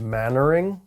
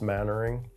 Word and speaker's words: Mainwaring: The one example from the Middle Ages that immediately springs to mind is an English noble family named Mannering. It's spelled Mainwaring, but it's pronounced Mannering.